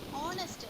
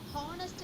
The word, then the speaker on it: honest: ஹானஸ்ட் read பண்ணக்கூடாது, ஆனஸ்ட். ஏன்னா ஹெச் வந்து இந்த 3 வேர்ட்ஸ்லேயும் மட்டும் நம்ம சைலண்டாக எடுத்துக்கணும், இந்த 3 வேர்ட்ஸுக்கு மட்டும். ஸோ the letter H is silent in our, honor and honest.